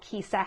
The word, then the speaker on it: Kijsa: to my YouTube channel, Kisa, which is my name, and it's spelled Kijsa.